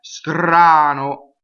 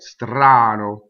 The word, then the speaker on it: strano: Strano. Rolled R. Really right? Strano. Closed O because it's unstressed. The accent's on the ah.